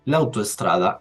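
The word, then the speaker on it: l'autostrada: al colocar el artículo tengo que pronunciarlo como si fuese una sola palabra el apóstrofe no significa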